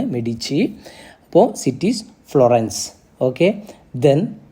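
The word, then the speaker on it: Medici: families മെഡിച്ചി ഒന്നാമത്തെ മെഡിച്ചി അപ്പോ അവിടെ spelling ME ഡി ഐ സിഐ ആണ് അതിന്റെ ഉച്ചാരണം മെഡിച്ചി എന്നാണ് ഇറ്റാലിയൻ വേർഡ് ആണ് മെഡിച്ചി അപ്പോ സിറ്റീസ് ഫ്ലോറൻസ് ഓക്കേ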